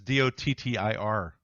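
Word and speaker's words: dóttir: Well, no, it's actually pronounced the same way. It's Dottir. Deuttir.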